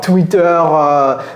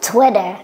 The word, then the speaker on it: Twitter: Do Americans pronounce it like that? I don't think so. Cody, can you help us pronounce this? Twitter.